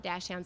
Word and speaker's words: dachshund: in my life but many people call it dash town so dash hound through